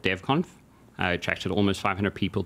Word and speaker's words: DevConf: Robert McLean, this organizer of DevConf. Did I say, is that the right pronunciation? 100% correct. DevConf.